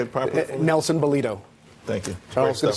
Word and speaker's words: Nelson Balido: Nelson Balido.